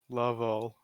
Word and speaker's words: Lovell: Lovell. That's how you say it. Low. Lovell.